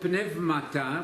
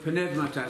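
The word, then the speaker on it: πνεύματα: The word pneumata, we use the modern Greek pronunciation, the word pneumata, spirits, when used absolutely by itself, not spirits of just men, that's qualified, that's spirits of just men.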